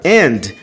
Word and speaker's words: and: frase, é a palavra and. Todo mundo fala and. Dentro de uma frase, o and quase não sai.